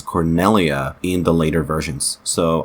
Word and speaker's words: Cornelia: like a voluntary thing Coria Cornelia Cornelia or corneria I thought it was cornia I cannot tell let's see Cornelia it's Cornelia I'm so sorry that I've been saying it